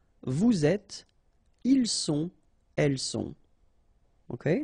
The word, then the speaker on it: êtes: Vous êtes, little liaison to between the two, and then final S not pronounced.